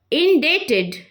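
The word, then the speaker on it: indebted: Next word आभारी या फिर एहसानमंद, इंडेटेड, इंडेटेड, यहाँ पे भी साइलेंट रहेगा.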